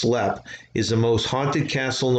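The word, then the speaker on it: Leap: also precedes its reputation lead castle pronounced lep is the most haunted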